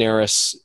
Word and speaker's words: Narus: to talk to you my name is Aris it's spelled and like Nancy a are us so that's n AR us if you literally just Google me Aris mobile home parks the first thing that comes